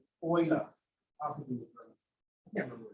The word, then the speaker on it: Euler: Lots of times this comes up, people read this as Euler, which is good. That means you're reading. But not from German. Euler.